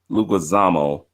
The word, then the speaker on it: Leguizamo: I always mispronounce this guy's name. John Leguizamo.